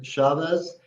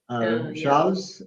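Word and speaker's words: Chaves: we took the slow Road from there to Chavez shavez and highly recommend n103 yes it's great Road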